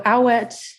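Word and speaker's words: Awet: name oh wait how it yes um so owlette is a friend of solos who was also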